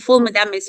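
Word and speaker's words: ful medames: Mona tell me about full mams um I don't know if I'm pronouncing that correctly full mam it's full mamis you pronounced yes now we are Egyptian PR you see you pronounce it good good good good so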